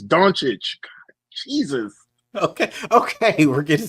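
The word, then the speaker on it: Dončić: going on it's and he say LCA last name wrong every time he say it it pisses me off put some put some respect on Luca's name bro please say it right it's donic Jesus okay okay we're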